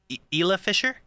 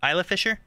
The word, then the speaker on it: Isla Fisher: starring um I always messing with her name Ela Fisher is that how you say my first name Isla Fisher I know you don't you don't really pronounce